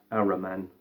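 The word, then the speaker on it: Ahriman: called the aims and purposes of the uh arrow man that's how you pronounce it um and i just had this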